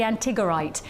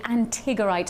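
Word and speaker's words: antigorite: will give you the main premise of the antigerite.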